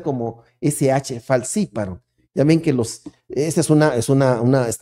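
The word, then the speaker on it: falciparum: esos es el plasmodium falciparon se tiene que pronunciar como sh falsiparo ya ven que los esa es una es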